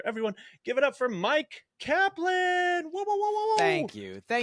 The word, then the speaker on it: Myq Kaplan: It's, you know, I feel like for myself, I pronounce it Myq, you know, like your classic Myq, and it is something that I did bring upon myself by changing the spelling, not the pronunciation.